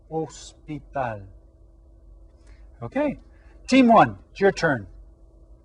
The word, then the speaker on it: hospital: y mano e ho the age here is silent so it's el hospital okay team one your